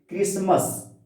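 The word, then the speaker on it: Christmas: क्रिसमस, टी को hide कर लिया जाता है उच्चारण करते समय, इसीलिए ज्यादातर क्वेश्चन पूछते रहता है क्रिसमस, तो टी को क्लियर करना पड़ता है, टी है कि नहीं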